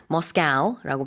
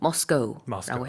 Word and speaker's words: Moscow: 지금 쉐인 선생님이 Moscow라고 발음했는데 그 발음도 가능하고요. 저는 보통 Moscow라고 해요.